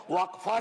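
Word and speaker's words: वक़्फ़: और अलग अलग लोग इसका प्रोनाउंसिएशन अलग करते हैं, कोई वक्फ बोलता है, कोई वक़फ़ बोलता है।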